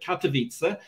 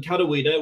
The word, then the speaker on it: Katowice: you were talking about katowice uh which i'll pronounce uh slightly hopefully slightly better for the sake of our polish producer this evening rather than katawida which sounded a bit to me like somewhere in hawaii steve i'm gonna have